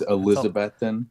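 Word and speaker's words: Elizabethton: are from is Johnson City but is it elizabethon how do you say how do you say that elizabethon yeah it's Elizabethan that's a lot of tease yeah we're we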